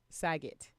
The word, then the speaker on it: Saget: Bob's, how do you pronounce his last name? Saget.